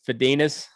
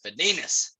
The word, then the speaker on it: Fedinec: said fed a nick i don't know it's fadinas fadinus is how my my great aunt who's about